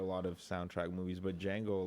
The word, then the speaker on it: Django: Yeah, I I think it's just Django, right? I I don't think you pronounced the D.